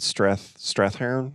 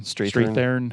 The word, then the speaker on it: Strathairn: So David Strathairn? Yeah. Strathairn? I don't know how you say his name. Strathairn.